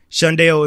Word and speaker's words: Shundao: Shundeo is spelled Shundao.